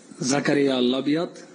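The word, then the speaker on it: Zakaria Labyad: First of all, Zaccaria Labiat, that's how you pronounce my name.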